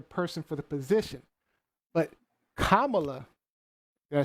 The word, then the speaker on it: Kamala: But Kamala, did I say it right?